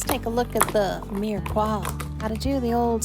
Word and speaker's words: mirepoix: Thank you for everyone that told me this is not mirepoix, but it's pronounced mirepoix.